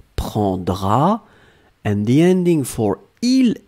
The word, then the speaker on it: prendras: You don't pronounce the S. Tu prendras.